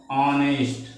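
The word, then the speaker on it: honest: मैं बताया था कि जो एच होता है वह साइलेंट होता है लिखा जाता है लेकिन पढ़ा नहीं जाता है ठीक है तो इसलिए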